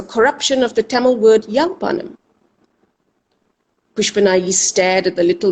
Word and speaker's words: Yalpanam: How many times they said, Yalpanam, Yalpanam, Yalpanam. Always they twist the words. They don't know how to say it properly. Maybe they don't want to. Yalpanam, Yalpanam. Suddenly they were calling it Jaffna.